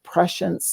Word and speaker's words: prescience: And I named my company Prescience Life, which is just the word pre-science, and together it's pronounced prescience.